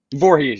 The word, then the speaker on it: Voorhees: And we have uh uh how do you say your last name? Is it Vorhees? Vorhees. Yep. Just like just like Friday the 13th.